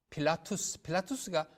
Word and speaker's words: 필라투스: 지금도 스위스를 방문하면 필라투스가 바로 빌라도의 라틴 발음이에요. 빌라도.